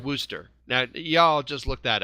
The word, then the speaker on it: Worcester: W-O-R-C-E-S-T-E-R is pronounced Worcester.